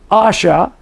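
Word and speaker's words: Asher: I am that I am is pronounced E-I, it's E-H-Y-E-H, if you want to write it down, Asha, A-S-H-E-R, and E-I, again, E-H-Y-E-H, E-I, Asha, E-I, meaning I will be or become.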